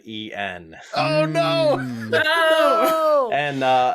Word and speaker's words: en: you should have said en oh no no and uh another one of those two letter scrabble words you see a bunch it n pronounced as the letter and it's literally the